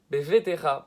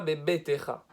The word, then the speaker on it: bevetecha: Donc il ne faut pas transformer le deuxième bet en bet, il faut bien le laisser vet. Bevetecha, pas bebetecha.